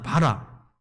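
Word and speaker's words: ברא: 여러분, 창조가 히브리 언어 발음으로 바라거든요. 바라.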